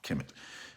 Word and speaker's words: Kemet: they call it kemet there are no vowels in the transliteration such as kmt but we pronounce it chemic because that's what people